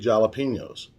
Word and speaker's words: jalapeño: Also, you're going to need some big jalapenos. And if you want to pronounce it properly, it's jalapeno.